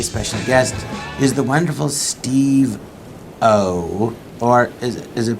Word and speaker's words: Steve-O: today my very special guest is the wonderful Steve O or is is it pronounced steveo doesn't matter I've never been particular